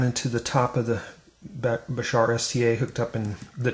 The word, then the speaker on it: Bashar: Okay, I've got a brand new uh Basher Bashar. I keep pronouncing that wrong. I'm sorry. Bashar STA experiment to try.